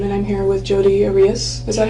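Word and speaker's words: Arias: Um and I'm here with Jod Aras. Is that how you say it? Aras.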